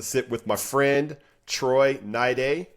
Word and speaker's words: Troy Niday: And today I get to sit with my friend Troy Naid rhymes with Friday.